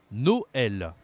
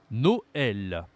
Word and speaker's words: Noël: onuise le E trma même prononciation que l'accent grave Noël Noël not no no means